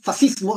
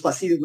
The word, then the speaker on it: fascismo: ¿No es fascismo? No, no es fascismo, es fascismo, porque en italiano, cuando tú leas SC, se pronuncia como sh, ¿sí?